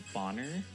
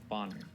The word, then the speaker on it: Bohner: There was a girl in my middle school whose last name was Bonner, but it was spelled like. Was it spelt boner? No, it was spelled Bohner. Bonner.